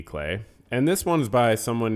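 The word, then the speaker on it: Klee: book about Paul clay I think it's pronounced k-l-e-e Clee clay and this one's by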